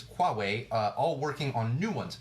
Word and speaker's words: Huawei: and Huawei I just I always laugh when I pronounce that because I want to say hue way it's qua way all working on new